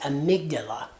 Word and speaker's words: amygdala: I mispronounced it. Amygdala, correct.